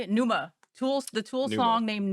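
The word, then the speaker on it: Pneuma: it's it was um I always pronounce the name wrong how do you say it Numa Tool The Tool song named Numa P NE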